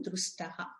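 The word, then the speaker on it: dṛṣṭaḥ: When we break that one, drustaha, we have to pronounce like this.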